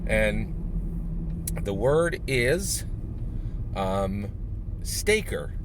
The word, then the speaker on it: Stayker: scott garabay word and the word is um staker s t staker i'll spell it s t s-t-a-y-k-e-r stay and see k-e-r